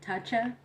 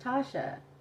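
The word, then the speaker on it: Tacha: call me thatcha and when they would try to pronounce it in english they would be like tatcha and i would always tell them like no that's not how you pronounce it it's pronounced tasha and they would be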